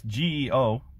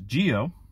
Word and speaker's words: GEO: Now, I know it's G-E-O. I know that you're supposed to pronounce, at least I keep pronouncing it as GEO. I still pronounce it to this day, but no, apparently Japanese people call it GEO. It's a Japanese language thing.